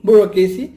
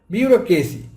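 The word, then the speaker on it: bureaucracy: আমরা প্রায় বলি বিউরোক্রেসি বা ব্যুরোক্রেসি, আমরা যেটা সহজ ভাষায় বলি ব্যুরোক্রেসি, কিন্তু উচ্চারণ হবে বিউরোক্রেসি।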